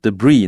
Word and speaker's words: debris: 所以呢，这个重点是英文有的时候，尤其是外来语，尤其是来自于法文的这个外来语呢，通常有的字母是不发音的，好像这个 debris 那个 S 是不发音的。